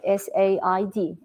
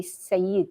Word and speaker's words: said: or new to English, if they start to sound, the word will be Sayyid. It's look like Sayyid if you spell it, but it's not. It's said.